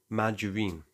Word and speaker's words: margarine: Consider margarine. The G is soft, but then there's gynecology, which, despite having a Y after the G, always uses a hard G.